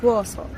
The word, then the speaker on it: Warsaw: That's how you pronounce? In Polish or English? In English? In English it's Warsaw.